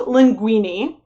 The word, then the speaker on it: linguini: i was pretty sure it's the same pronunciation as the pasta but this is linguini uh it is a